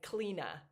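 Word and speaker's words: Clíodhna: And then when she introduced herself to everyone, she said like, "Cleina, like clean."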